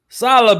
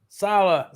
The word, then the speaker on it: Saleh: Is Saleh, baby. Robert like salad. Saleh.